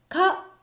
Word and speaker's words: 花: かでしたね。